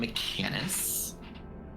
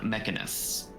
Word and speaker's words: Mechanus: Um they're from Mechanis plain clockwork probability and you also notice that um it is slightly arcane in nature. Okay. And so you have studied them before. They're from Mechanus, which is one of the planes.